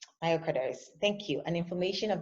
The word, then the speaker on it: myocarditis: Is it how you pronounce it, please? Myocarditis. Myocarditis.